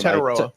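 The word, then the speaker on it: Tetairoa: Tetaroa.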